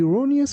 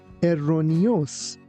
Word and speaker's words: erroneous: The child held the erroneous belief that the time machines were real. Please be careful not to pronounce this word like erroneous. It's erroneous. Erroneous.